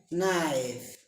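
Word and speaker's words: knife: নি নাইফ, নিফ নয় নাইফ অত ছুরি।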